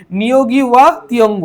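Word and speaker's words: Ngũgĩ wa Thiong'o: লিখবে অবশ্যই ঠিক আছে এবং প্রোনান্সিয়েশন এর সময় এটা প্রোনাউন্সিয়েশন হবে নিয়োগী ওয়া তঙ্গ ঠিক আছে পেটলস অফ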